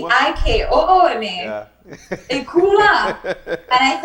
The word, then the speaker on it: Ikooma: And then I said, oh, in Creole, phonetically, that would be Ikooma.